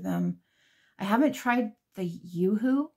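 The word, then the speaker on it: UHU: I haven't tried the Yoo-Hoo. I think that's how you say it, U-H-U.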